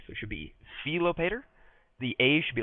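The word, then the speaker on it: Philopator: should be an e so it should be felopater the a should be like ah so fop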